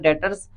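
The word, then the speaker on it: debtors: डीटीओ आर एस है इसमें बी जो है ये जो बी है ये साइलेंट है ये नहीं पढ़ा जाएगा इसमें इसमें जो पढ़ा जाएगा डॉटर्स पद जाएगा ये अब डॉटर्स क्या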